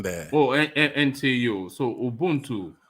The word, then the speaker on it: ubuntu: t u i'd like to know how you pronounce that u b u n t u ubuntu this is the way i would say